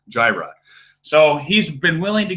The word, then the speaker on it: Gyre: a mac spec jireh i guess i've been mispronouncing it's not Gyrenes jireh so he's been willing